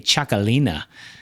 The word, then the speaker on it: Txakolina: It's uh it's actually with a T followed by an X, and then alina. So, txakolina. gasolina song, right?